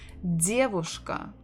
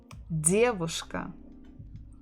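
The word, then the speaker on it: дедушка: the dear whoosh Ka so stress the first syllable diabushka diabushka this one is pretty easy so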